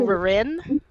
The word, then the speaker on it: Ririn: people are like, oh, it sounds like Weirin. I'm like, really? It doesn't sound the same either. But you know, I put emphasis on the other syllable. I go Ririn.